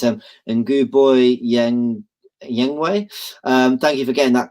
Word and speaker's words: Ceballos: Sorry if I pronounce his name wrong. It's Nguboy Yengwei.